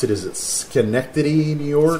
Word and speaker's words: Schenectady: Okay, this one, I'm not even sure how to pronounce it. Is it Schenectady, New York? Schenectady.